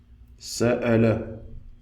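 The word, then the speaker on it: سأل: Sa'ala, sa'ala, qui veut dire poser une question. Sa'ala. Nous avons ici la hamza avec une fatha au-dessus qui donne le son a.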